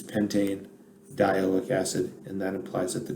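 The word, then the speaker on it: pentanedioic acid: i had pentandiolic acid pentin dialic acid sounds kind of weird so they put the e back in so it'll be pronounced pentane diaoic acid but i mean the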